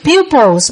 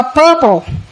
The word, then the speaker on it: pupil: Rồi hồi này đó là cái chữ pupils, bác đọc là purple.